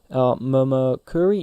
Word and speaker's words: Momokuri: Momokuri, yeah, pronounced that right.